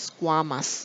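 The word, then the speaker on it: squamous: প্লেসেন্ট্রালি এটাকে আমরা বলবো স্কোয়ামাস সেল মানে উচ্চারণটা খেয়াল রাখবা স্কোয়ামাস এটা মানে এটা যেন তালিবাস না হয়ে যায় স্কোয়ামা সেল স্কোয়ামা সেল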